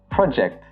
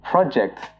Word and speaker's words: project: So for example, I have a major project to complete this semester. But if you're using the verb form of this word, you pronounce it as project. And this can mean to predict or to forecast something.